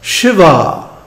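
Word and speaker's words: Śivā: And he also mentions Shiva. with a long A at the end.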